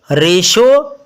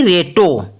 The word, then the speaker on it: ratio: Okay, रेशो ना कि रेटो, और पेशेंट ना कि पेटेंट।